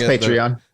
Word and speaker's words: Patreon: Am I like pronouncing it Patreon.